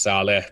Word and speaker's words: Salih: it's okay everyone mispronounces it's pronounced Sala but I've gone salia